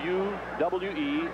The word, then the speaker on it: Uwe: His name is spelled U-W-E, Uwe, B-L-A-B, pronounced Blop.